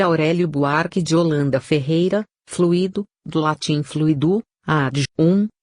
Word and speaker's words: fluido: fluir afal porque esta confusão acia correta é fluido Mas sem o acento não é fluo como